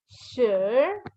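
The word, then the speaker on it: 十: And the last number, number 10, is sure. Sure. Just like when we said was sure, yin to run. It's the same spelling, SHI, but the tone is different.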